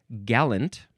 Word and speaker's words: gallant: So this would be pronounced gallant.